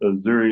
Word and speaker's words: Azuri: It's pronounced Azuri, like Missouri without the M.